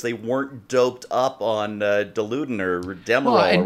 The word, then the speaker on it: Dilaudid: Yeah, It's Dilaudid, by the way. And the reason I'm making that pronunciation correct is because I was in the